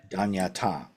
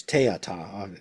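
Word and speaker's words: तद्यथा: So this is the Korean pronunciation of the Sanskrit word. This is not a seed syllable. This is a word in ordinary Sanskrit that has an ordinary meaning, and it just means it's Teata. Teata is kind of another way of mispronouncing it.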